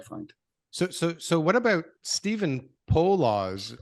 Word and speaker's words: Poloz: So what about Stephen Poloz? I don't know how you say it. Paulos? Poloz. Yeah.